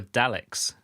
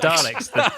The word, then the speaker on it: Daleks: Particularly liked it when they were talking about the Daleks. No, the Daleks.